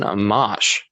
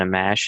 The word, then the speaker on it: Amash: making these decisions Justin Amash am i pronouncing his name correctly I am right Justin Amash sure Justin a mash is this is it a monitor tomahto Amash alright good he he made history